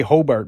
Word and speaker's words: Hobart: It is Hobart, like B-E-R-T. If you say Hobart down here, no one will bat an eye. Of course, if you say Hobart by this point, hardly anybody bats an eye.